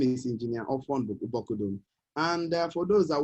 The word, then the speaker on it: Ofon: I'm from Bible State, so just call me Ofon. Ofon is spelled O-F, off, O-N, on. Off and on, joined together, Ofon.